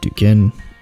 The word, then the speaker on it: Duquesne: You don't really pronounce the S.